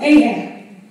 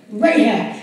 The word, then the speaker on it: Rahab: Because Ahab, I'm saying it right now, Rahab. Why do I always say Ahab? Rahab.